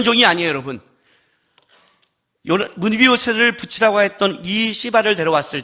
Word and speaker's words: 시바: 들어와요 그리고 나서 16장에 가면 시발하는 사람이 나타나요 발음을 조심해야 돼요 16장 3절 4절 보세요 자 시바가 나타났어요 왕이 이르되 내 주인의 아들 어디 있느냐